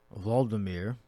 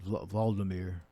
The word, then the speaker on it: Volodymyr: So in Ukrainian, Volodymyr.